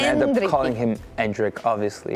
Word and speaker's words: Endrick: you guys went with my uh Brazilian Portuguese pronunciation of andri everyone's going to end up calling him andri obviously andri but and but you